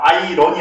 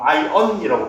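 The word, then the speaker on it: iron: 원래 이제 요것도 알이 묵음이죠. 그래서 아이런이 아니라 보통 아이언이라고 발음하는게 맞아요.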